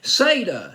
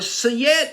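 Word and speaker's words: Siedah: with a woman named Sada Sada Garrett or siet is Sada or I'll just go with SATA I came across a couple pronunciations of her first name now on this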